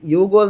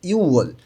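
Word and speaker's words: 유월: তাহলে এখানে ইউগোল না হয়ে উচ্চারণটা হবে ইউওল।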